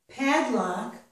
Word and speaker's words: padlock: luck both syllables when we pronounce padlock only the first syllable is trust pad and when we pronounce